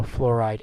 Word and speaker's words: fluoride: I FL UO are don't spell it oh you are that'd be wrong it's not flour it's flora so fluoride anion all right now